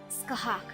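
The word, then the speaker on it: Scáthach: Okay, pronounced your name correctly, yes, so it was Skahak, right? Skahak, do you happen to know my nickname?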